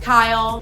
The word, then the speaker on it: Kyle: So style rhymes with Kyle.